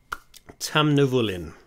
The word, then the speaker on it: Tamnavulin: drink unsuccessful whiskey let's go into their website tam nivolin that is spelt t-a-m-n and you don't care so tucked